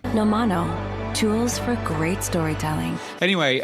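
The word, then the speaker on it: Nomono: And indeed, is it even pronounced Nemono? I think it's pronounced Nomino. A bit like the Muppets. No, you can't say that. Yes, exactly. I had that straight in my head. James from the Edit again. It turns out it's pronounced this way. Nomano.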